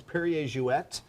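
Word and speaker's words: Perrier-Jouët: and as I said, it's Perrier Jouet, because it was Monsieur Perrier and Madame Jouet. She was from Holland, so it's a Dutch name.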